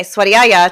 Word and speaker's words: Svadyaya: love Sanskrit so much the V is pronounced as a w if this is new